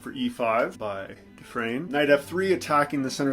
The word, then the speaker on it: Dufresne: I'm going to say Dufresne because I know that's how you say it in English. These guys were Germans. Dufresne is a French name. I'm not sure how they said it.